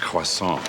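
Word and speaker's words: croissant: It's pronounced quason.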